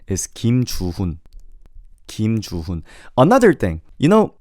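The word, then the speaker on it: 김주훈: Well, in Korean, there is no space. So you could just say without stopping. You don't have to say Kim Chuhun. You could just say Kim Chuhun. Does that make sense? You don't have to necessarily make an additional stop after the last name.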